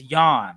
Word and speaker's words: Jean: be on your head about pronouncing it John. Like I had so many people message me talking about it is Jan.